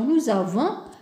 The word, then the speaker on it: nous avons: ajoutent le leurrage alors nous avons par exemple et la liaison n'oubliez pas la liaison nous avons puis la réponse par